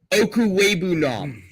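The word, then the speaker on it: Okwuegbunam: For the record, Okuwebunam. Yeah, I've always said it right. I've said it right since he was in college because, again, Mizzou.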